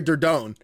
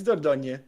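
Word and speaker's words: Dordogne: always the people like I was calling her dorone I was like I don't know how to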